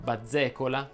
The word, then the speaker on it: bazzecola: Farebbero eccezione molte parole però, come ad esempio bazzecola, lazzaro, aguzzo, rozzo, tozzo, gazzella, gazzetta, bozza.